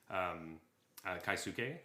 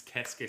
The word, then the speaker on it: Keisuke: just because last week I was pronouncing Keisuke Sato's name wrong. I just kept saying Kaisuke, and that's my bad. So it's Keisuke Sato. I will be better at this. Sato. It's Keisuke Sato.